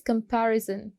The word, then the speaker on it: comparison: Second is comparison. Comparison में भी आप second syllable को stress करोगे.